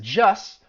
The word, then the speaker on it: just: sound uh gets removed so she says just but you don't hear that t she said not the sex part just the stuff leading up to it so even when i said it right there you don't don't hear that t at the end of the word and then she even